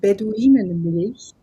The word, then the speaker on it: Beduinenmilch: You pronounce it Beduinenmilch, Bedouin's milk, and But what about the other name?